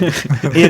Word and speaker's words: id: Id as in id, this, ego, like, and superego. Like not a silent D, the opposite.